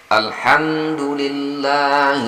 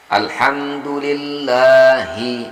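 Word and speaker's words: الحمد لله: Alhamdulillahi. Nah, hi-nya baru hanya seperti tadi pada lafaz jalalah di bismillah. Jadi di sini kita membacanya sampai ada getaran di dada kita ketika kita membaca huruf ha itu.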